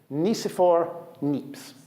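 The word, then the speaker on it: Nicéphore Niépce: He's French, if that helps. French. From what I've been able to gather, his name is Nicephore Niepce.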